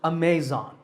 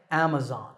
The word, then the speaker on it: Amazon: internet shopping giant Amazon this word is commonly mispronounced Amazon when you say it correctly the first syllable is app and the stress is on this first syllable so Amazon is correct